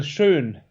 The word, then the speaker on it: Schön: It's Michael Schoen, I think. Is that how you say it? Sean? Michael Schön. Schoen. Schön. Yeah, like Schönfeld.